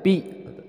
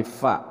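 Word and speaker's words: ف: Nah, dalam pelafalan huruf fa ini masih sering banyak terjadi kesalahan, yaitu dibacanya pi. Tapi kalau fa itu cara pelafalannya adalah bukan pi tapi fi, bukan pa tapi fa.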